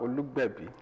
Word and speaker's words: Olugbebi: He is by the name IFELOLUWA OLUGBEBI. Did I OLUGBEBI? OLUGBEBI. Yeah, baby. Okay. Tell me what's the correct pronunciation? IFELOLUWA OLUGBEBI.